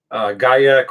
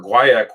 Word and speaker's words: guaiac: Notes on this are going to be ginger, bitter orange, black pepper, guaiac or guaiac wood. Both are acceptable pronunciations.